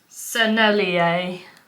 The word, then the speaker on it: Sennelier: Sennelier, like sommelier but with an N. I think that's how you say it.